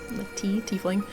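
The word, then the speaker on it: Teafling: Some of my favorites are the Gilded Tiefling, it's spelled T-E-A. Tiefling.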